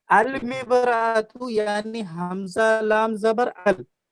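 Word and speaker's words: المرأة: ठीक है, जी जी तो अल मिबरातु यानी हमजा लाम जबर अल, यानी अलिफ और लाम दोनों प्रोनाउंस हो रहा ना, तलफ्फुज हो रहा है अलिफ जी लाम।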